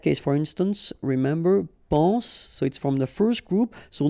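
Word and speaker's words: sois: Okay, then of course être and avoir, so être will become soit, remember final S is not pronounced, soit, then soyons, soyez, all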